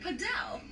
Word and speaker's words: padel: So David Pradell and then Padel. It rhymes.